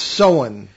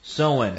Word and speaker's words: Samhain: It's Samhain. Samhain. I believe it's pronounced Samhain, yeah.